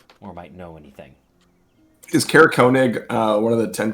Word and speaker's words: Konig: know he was going to be stopping in Konig and picking up supplies is at uh Frozen far Expeditions so maybe you can ask around there and see if anyone saw him or might know anything is Konig uh one of the tent towns yes okay